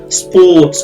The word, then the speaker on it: sports: দেখেন এখানে স্পোর্টস বলতে পারবেন না, এই ওটা কিন্তু লম্বা, হ্যাঁ, এই ভাওয়েলটা লম্বা। স্পোর্টস, এখানে স্প হবে না, স্পো একটু উকারের মতো, কিন্তু উকার না।